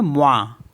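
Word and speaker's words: moins: गया वा for example M ओओ आई एन एस तो इसको पढ़ते हैं मवा क्योंकि लास्ट का जो एस है वो साइलेंट होता है तो मवा मवा मीस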